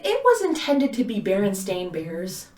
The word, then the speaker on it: Berenstain: spelled like this now berenstain literally stain the word stain is at the end of the name so and everyone says berenstein bears yeah you would not pronounce berenstain as berenstein no so that one just